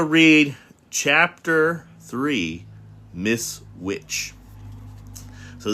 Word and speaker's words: Which: So now we're going to read chapter three Miss Witch. So, this isn't spelled like a witch that does a cauldron, but this is the word witch.